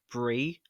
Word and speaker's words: Brye: that I just noticed her name is actually pronounced Bri like the cheese I'm sorry I guess